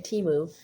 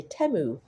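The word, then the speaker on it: Temu: Yes, that's how you say a teu. I kept saying timu because I was, you know, American English, I I equate a short e sound or short vowel sound with multiple consonants like two M's.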